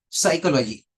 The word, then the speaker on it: psychology: pronounce letter P but in Psychology letter P remains silent both are at the initial position both are at initial position psychology it's not psychology it is psychology we